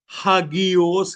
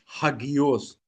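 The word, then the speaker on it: ἅγιος: Greek भाषा में यानी यूनानी भाषा में हगियोस कहते हैं। हगियोस स्पेलिंग लिख सकते हैं आप। एच ए जी आई ओ एस हगियोस एच ए जी आई ओ एस मेरे साथ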